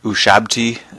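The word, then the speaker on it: Ushabti: I think I finally figured out how to pronounce this one us shabti uh is that color there I think tons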